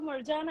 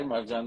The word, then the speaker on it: Marjan: word is John uh June is sort of when you say it in a more intimate way but the the the actual word is John and if you look at my name the last syllable is actually John so it's built into my name yeah we can also